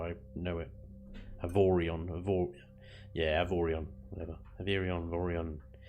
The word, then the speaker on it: Avorion: Oh, Averion. Averion. Is that how you pronounce it? Okay, Averion. Yeah. Well, I don't know how you pronounce it, but that's how I know it. Avorion.